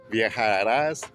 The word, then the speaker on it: viajará: Viajar versus viajar. First one is, you will travel. Second pronunciation is when you want to express past unreal situations, hypothetical situations, wishes, desires, otherwise known as the subjunctive form. So, the accent mark is really important.